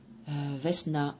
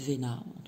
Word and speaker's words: Vesna: Vesna, éveil et victoire. Ça se dit peut-être Vena. Moi, je dis Vesna, je prononce toutes les lettres.